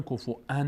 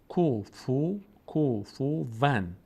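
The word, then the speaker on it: كُفُوًا: احد، اینجا که میرسن کفو ان میخوانن، واو رو همزه تلفظ میکنن، کفو ان میگن. کفو ون. بعضی کف ان میخونن، بعضی کف ون میخونن، فه رو ساکن میکنن.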